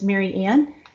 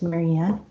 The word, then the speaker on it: Marianne: It's Mary Ann. It's just spelled Mary with Ann, so it's Marianne.